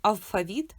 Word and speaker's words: алфавіт: Тільки уявіть алфавіт з двох літер, бо наголос може бути на а і на і.